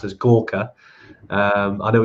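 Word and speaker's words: Gorkha: the giras are from um even though it's pronounced as Gorka um I know it's been kind of spelled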